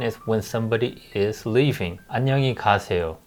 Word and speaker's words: 안녕히 가세요: 안녕히 가세요. It's a 6 syllable. 안녕히 가세요. Right? So when we say it faster, 안녕히 가세요. When we say it naturally, 안녕히 가세요.